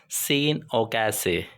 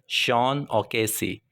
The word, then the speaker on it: Sean O'Casey: यू कैन not pronounce it सीन ओके। This is श ओके। श ओकेसी इट्स श ओके।